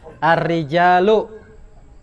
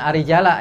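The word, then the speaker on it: الرِّجَالُ: Para lelaki Bacanya begini, bacanya ar-rijalu. Bukan arijala ya kan? Bukan arijali.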